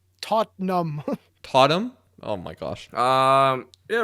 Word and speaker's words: Tottenham: he said that part you just don't pronounce the second tease tot num totem oh my gosh